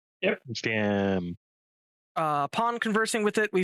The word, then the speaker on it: Castien: But we communicate with the ship for a bit, find out that its name is, and correct me if I'm pronouncing it wrong, Castien? Yep. Castien.